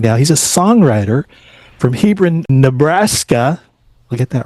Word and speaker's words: Hebron: He's a songwriter from Hebron, Nebraska.